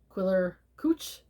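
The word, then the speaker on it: Quiller-Couch: I believe his name is pronounced, I've heard it pronounced this way, Sir Arthur Thomas Quiller Couch.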